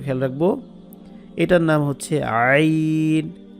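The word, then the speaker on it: ع: রাখবো এটার নাম হচ্ছে আইন গলার মাঝখান থেকে থেকে কণ্ঠনালীর মাঝখান থেকে যেটাকে মাখরাজের পরিভাষায় বলা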